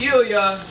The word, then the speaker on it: Elia: I knew that because my name is Elia and the only words that rhyme with my name are hemophilia and necrofilia one is a bleeding